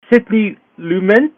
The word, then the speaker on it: Sidney Lumet: Sidney Lumet is how you pronounce the director's name.